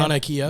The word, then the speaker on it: Mauna Kea: Mauna Kea.